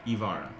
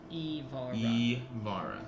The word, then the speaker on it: Ivara: name again sarah devar uh it's ivara ivara is the pronunciation that joshua is telling you she is not speaking evil vara hi